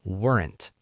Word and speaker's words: weren't: That becomes weren't. It's one syllable and fast. Weren't. That's a bit tricky to say. Practice it. Weren't. Make it quick and natural.